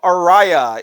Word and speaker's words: Araya: something uh Tom Araya Tom Araya is how you say the lead singer's name from the group Slayer the guy that looks like